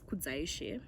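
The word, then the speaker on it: Kudzaishe: what is your name my full name is kudzaishi that's how you say it yeah what is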